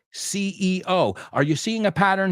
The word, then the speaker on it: CEO: We don't say Theo. We say CEO.